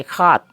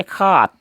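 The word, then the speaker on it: সাত: इस तरह लिखेंगे 7, लेकिन इसका उच्चारण करेंगे खात। उच्चारण कैसे करेंगे, खात, खात। स का उच्चारण ह से होता है, इसलिए खात कहते हैं। 7 न बोल के हम इसको खात कहेंगे असमिया में।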